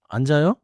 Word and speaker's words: 앉아요: Sometimes the two consonants split across the syllable boundary. 맞아요. 먼저 원어민 예문을 세 개 들어 보세요. 앉아요.